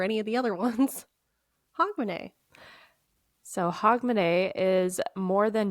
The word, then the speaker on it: Hogmanay: are going to talk about is hogman huh h o g m a n a y which I did look up the pronunciation for that one hogman okay weirdly enough